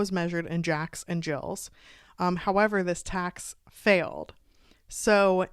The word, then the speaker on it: gill: bet you it was it was said like Jill um because like the